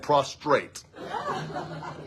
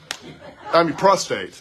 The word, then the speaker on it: prostrate: had to teach me the difference between prostate and prostrate. Two very different words, but they sound a lot alike. And to a fifth grade boy, it's easy to mispronounce them, right?